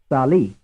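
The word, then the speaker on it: salì: the answer is two frame 25 which syllable is stressed the first or the second Sal the the answer is the second frame 26 as far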